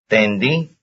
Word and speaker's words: tendí: Tendí. Tendí. Tendi, tendi, that's the second syllable.